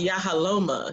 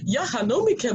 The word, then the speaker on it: Yahaloma: Believe me, I know when people used to get my name wrong. That's why I shorten it to, because it is Yahaloma. So people, oh, what kind of name is that? Is this Yahanomika?